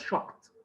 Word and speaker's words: shocked: He was shocked. Again, can you remember? Shocked. Here it ends with k sound. So it is followed by ed, pronounce it t.